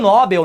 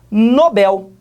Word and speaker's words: Nobel: que é o prêmio nobel né prêmio nobel na verdade nobel em inglês a pronúncia em língua portuguesa existe e trata-se dir nobel a última sílaba é que é mais forte mesma coisa e marcelo